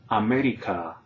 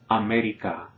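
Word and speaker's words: América: For example, a non-native speaker like me might sometimes pronounce Ana instead of Ana, or America instead of America, para instead of para, or abuela, abuela instead of abuela, all right?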